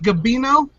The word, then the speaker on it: Gabino: Garrett cook we are joined by is it gabino yes sir I can't pronounce I can't pronounce names like Matthew so